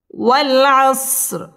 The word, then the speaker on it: والعصر: والعصر رازني والعصر والعصر ওয়াও আমরা ঠোঁট গোল করে উচ্চারণ করব والعصر র এখানে পুর করে পড়তে হবে والعصر إن الإنسان لفي